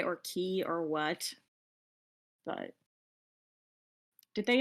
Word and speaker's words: Quay: Um, okay, I don't know if I'm pronouncing it Quay or Key or what, but did they establish on Critical Role that either pronunciation was acceptable? Well, I think actually it's pronounced key, but Matt Okay.